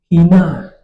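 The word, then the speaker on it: ἵνα: But if what you have a word has a rough breathing mark, then we need to take note. So we have a word like this, hina, hina. Did you notice how I pronounce it? He. So your breathing mark, rough breathing mark, makes you pronounce this word as if you are starting with H.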